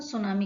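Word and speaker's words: tsunami: हैं सुनामी कहते हैं की इसमें साइलेंट है इसलिए हम क्या बोल रहे हैं इसमें सुनामी का रहे हैं डिजास्टर इस मैन में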